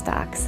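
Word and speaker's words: doch: in our family there's a German word spelled D o c h and it's pronounced do um and do is a word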